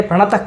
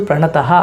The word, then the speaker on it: ಪ್ರಣತ: ಹೇಳ್ತಾ ಇದೀನಿ ತುಂಬಾ ಕಡೆ ಪ್ರಣತ ಕ್ಲೇಶ ನಾಶಾಯ ಅಂತ ಹೇಳ್ತಾರೆ ಅದು ಪ್ರಣತಃ ಅಲ್ಲ ಪ್ರಣತ ಕ್ಲೇಶ ನಾಶಾಯ ಅಂತ ಉಚ್ಚಾರಣೆ ಮಾಡಿ ಪ್ರತಿ ಬೇರೆ ಯಾವುದಾದರೂ ಕೃಷ್ಣ